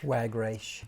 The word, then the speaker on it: Wagreich: Wagreich. Thank you. I should have written it phonetically.